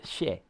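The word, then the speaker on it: 谢: X So like um x i e that's she that's how you say thank you sh it's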